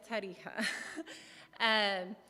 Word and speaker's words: Tarija: And through moving to different countries during that time, we ended up back in Bolivia in Tarija, which nobody can pronounce, but it's Tarija.